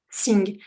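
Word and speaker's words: jing: à l'heure le Ting ça s'écrit j i n g et ça se prononce sing c'est vraiment l'essence vitale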